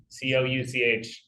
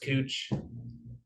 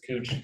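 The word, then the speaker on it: Couch Street: downtown called cooch Street spelled couch c-o-u-c-h it's pronounced cooch you say couch people will tell you it's cooch so you can know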